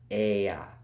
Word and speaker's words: Ea: It was pronounced Ea.